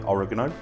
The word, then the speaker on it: oregano: dried parsley one tablespoon of dried oregano most Americans say oregano and then we go